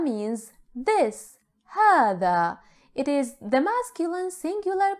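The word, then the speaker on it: هذا: in arabic let's start with the first pronoun hada hada means this hada it is the masculine singular pronoun hada pay attention to the pronunciation it is for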